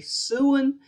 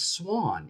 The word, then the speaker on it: Swan: I used to say I used to say Suan, and a friend of mine said it's Swan.